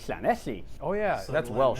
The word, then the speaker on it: Llanelli: Llanelli. I would have said that. Llanelli. Llanelli. Oh yeah, So that's Welsh, Llanelli.